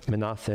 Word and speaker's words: Manasseh: And Jacob comes from Canaan down to Egypt to see his son and to meet his grandchildren, Ephraim and Menashe in Hebrew, pronounced Manasseh in English.